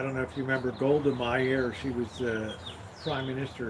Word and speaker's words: Golda Meir: Golda Meir.